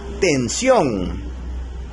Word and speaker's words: tensión: Por ejemplo, tenemos la palabra tensión. Tensión lleva la mayor fuerza de voz en la última sílaba, sion.